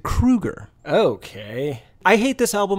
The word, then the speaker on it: Kroeger: called Alberta more importantly it is not Chad Kroeger is it Creager no oh that's a great guess Creager would be the appropriate way to say it but no he pronounces it Kreuger okay I hate this